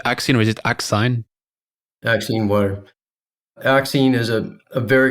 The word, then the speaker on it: Axine: Axine Water.